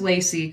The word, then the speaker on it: Lacey: while the um yeah my name is Lacey kind of like lace um but I don't